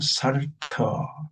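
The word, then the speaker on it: Psalter: 그래서 이제 그게 어느 정도 정리돼서 이미 있던 곡들하고 합쳐서 제네반 살터, 피는 묵음이고 살터, 제네바 찬양집이에요.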